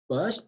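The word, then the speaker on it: baş: Bosch, un mot, je vais écrire déjà en kurde, et puis la prononciation, Bosch, et puis la signification, ça veut dire bien.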